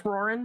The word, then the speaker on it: Roran: It's Roran. At least that's how I've always pronounced it.